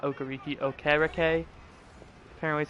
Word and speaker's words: Okereke: Middle linebacker Bobby Okereke, or not Okereke, Okereke. Apparently is how you pronounce his last name.